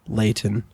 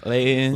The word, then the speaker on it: Layton: There was one in Layton.